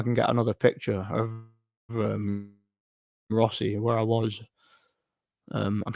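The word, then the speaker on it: Rothesay: um it's spelled Roth rothy that but it's pronounced Rossy I don't know why but yeah rothy but it's pronounced Rossy it's it's an island in Scotland it's near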